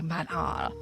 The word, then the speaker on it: Manon: So they pray to Manon, or they always pronounce it in this like really specific way, Manon.